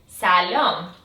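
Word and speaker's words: سلام: you say hello in the Persian language is salom Salon perfect and you might s might have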